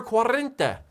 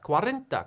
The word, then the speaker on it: cuarenta: say 40 in spanish in spanish 40 is cuarenta well guys that is jason bites back episode number quarrenta quarenta quarenta cuarenta quarrenta quarrenta episode numero